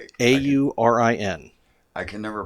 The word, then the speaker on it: Aurin: A U R I N. I can never pronounce it.